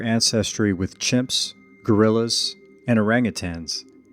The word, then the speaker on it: orangutan: We share ancestry with chimps, gorillas and orangutans. It's actually pronounced orangutan which means person of the forest in Bahasa Indonesia. orangutan in American But we also share